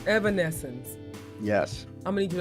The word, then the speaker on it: Evanescence: You're missing certain consonants. You're saying evanescence. It's evanescence. Evanescence.